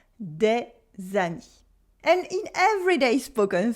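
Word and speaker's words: des amies: Des than me several female friends and the S and the E are silent de zani and in everyday spoken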